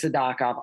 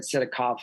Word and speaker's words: Sidakov: He says Sadakov. I'm going to say Sadakov. I said Sidakov forever. Mm-hmm. I'm going to follow Beloglatsov there. I'll say Sadakov. So I knew Sadakov was going to move up.